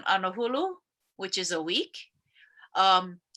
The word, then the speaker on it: anahulu: The old word for 10 is anahulu. So there's different ways that other people pronounce it. It's sefulu in some, or sehulu, nahuru, angahuru, anauru. Those words are all the same. It's a way to say 10.